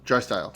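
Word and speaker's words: Draisaitl: So I went McDavid, and I'm going to pronounce it wrong. How do you say it? Drystyle.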